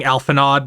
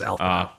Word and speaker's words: Alphinaud: I keep saying Alphinaud because that's how it's spelled, but it's French, so it's Alphinaud.